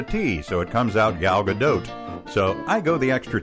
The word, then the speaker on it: Gal Gadot: lot more gal gadot it's like when you pronounce gal gadot with a silent t it is shorter and